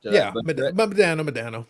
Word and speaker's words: Modano: So you have a huge Mike Modano collection. Is that how you say his name? Modano. Yeah. Modano, tomato.